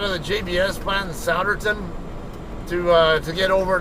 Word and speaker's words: Souderton: over here in Souderton I originally called it Suitor 10 and then my good buddy uh Antonio Anthony by Ant-Man Griffo um who lives over here in New Jersey he told me that it's uh it's pronounced Souderton so or at least that's how the people